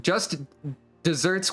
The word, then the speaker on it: just deserts: deserved reward or punishment, which is spelled like the arid land but pronounced like the sweet treat.